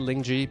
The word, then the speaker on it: Lingjie: Linji, is it actually pronounced Linji or is it more like Lingjie or Lingjie? But I say it Linji because throughout my entire life it's been like that since I was young.